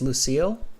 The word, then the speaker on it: Lucille: Am I pronouncing it correctly? It's Lucille? Yeah, definitely correct.